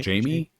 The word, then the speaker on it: Jame: So instead of James, it's Jame without the S, but they pronounce it Jamie. I guess. Jamie.